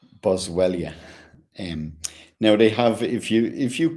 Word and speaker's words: Boswellia: Let me get the pronunciation of that properly for you. Um, yeah, it's Boswellia.